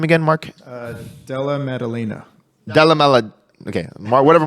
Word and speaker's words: Della Maddalena: Della Maddalena.